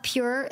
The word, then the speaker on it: pjur: and slide yeah my I love pure Lube it's spelled pjur you can get it